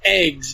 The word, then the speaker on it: AGWS: Where a lot of the characters, some of them have, it's pronounced eggs, but it's like AGWS.